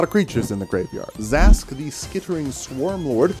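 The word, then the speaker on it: Zask: for a lot of creatures in the graveyard Zas the skittering Swarm lord it's actually pronounced Zach let you play insects and lands from your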